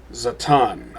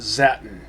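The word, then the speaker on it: Zaton: Zatan. I'm pretty sure it's not supposed to be pronounced Zatin.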